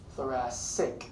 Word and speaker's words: thoracic: CIC but it's pronounced floor ass sick so the first C is an S sound the second sees a